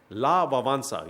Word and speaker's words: Lech Wałęsa: Then Lech Wałęsa, you pronounce his name as that, but he was the famous Polish leader who was the Solidarity leader.